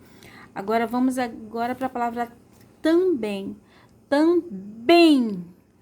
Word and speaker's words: também: Bem é um som bem aberto e a mais forte é o bem. A tônica, né? A sílaba tônica é a sílaba bem. E como é um som aberto, nós vamos colocar o acento agudo.